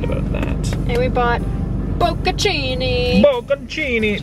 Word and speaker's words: bocconcini: And we bought bocconcini. Bocconcini. Do you pronounce the N or no? Bocconcini.